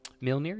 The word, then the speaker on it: Mjolnir: Milnir, yes. What did I say? That's pronounced right?